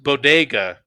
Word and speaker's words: bodega: she mispronounced bodega. Bodega she said bodega. Yeah, something like that. Yeah, put the accent on the first syllable instead of the second.